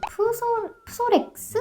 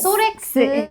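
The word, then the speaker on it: Psorex: 프솔 프렉스 아 이게 무음 아 무금렉스 소렉스 소리아시스라고 하는 병이 있어요.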